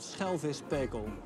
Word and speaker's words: Schelvispekel: It's impossible to pronounce for you. It's called Schelvispekel. Schelvispekel.